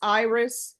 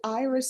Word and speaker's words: Iris: Is it Iris or Iris? It's Iris. Iris? Iris in Spanish, but it's Iris.